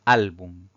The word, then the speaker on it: álbum: La tercera palabra es álbum. Esta palabra también tiene 2 sílabas. Si contamos de derecha a izquierda, la mayor fuerza recae en la penúltima sílaba.